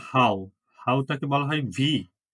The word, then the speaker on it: wie: হাউ টাকে বলা হয় wie। জার্মান ভাষায় W এর উচ্চারণ V এর মতো না? এজন্য এটা হলো wie।